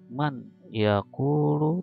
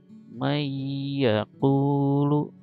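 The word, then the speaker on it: من يقول: Jadi man langsung ke ya dan didengungkan. Contoh, may yaqulu, gitu ya. Bukan man yaqulu tapi may yaqulu, gitu ya.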